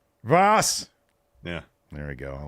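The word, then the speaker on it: was: all crazy what what how do you say what in German boss what Voss Voss yeah there we go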